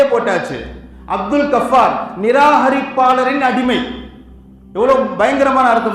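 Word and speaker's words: Ghaffar: அப்துல் கஃபார் நான் சொல்லுவான் அப்ப கே வராது ஜி வரும் இல்ல என்னை எல்லாம் அப்படித்தான் கூப்பிடுவாங்க 10th் மார்க் ஷீட் அப்படித்தான் இருக்கு 12 மார்க் ஷீட் எல்லாம் அப்படித்தான் இருக்குன்னு இல்லையா வச்ச பேரு அப்துல் கஃபார் ஜி போடணும் ஜி ஏ எப் எப் ஏ ஆர் கஃபார்னா மன்னிப்பாளன்னு அர்த்தம் மன்னிப்பாளனின்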